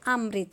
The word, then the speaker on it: अमृत: ता हलंत जमा अ, तो हम इसका उच्चारण कैसे करेंगे? अमृत। और वर्ण विच्छेद करते हुए हम कैसे बोलेंगे? अ जमा माँ हलंत जमा री जमा ता हलंत जमा अ।